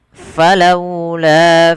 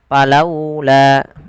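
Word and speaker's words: فلولا: Jangan sampai kita membaca huruf fa ini dia menjadi huruf pa, palaula. Nah, ini tidak, tapi dia fa, alirkan nafas dan terbunyi dengan huruf f.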